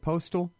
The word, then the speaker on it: Postol: Postal? Ted Postol, yes.